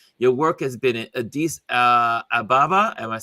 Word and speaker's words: Addis Ababa: Your work has been in Addis Ababa. Am I Yep. saying it right? Addis Ababa.